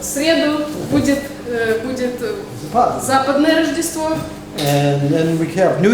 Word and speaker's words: Рождество: Рождество.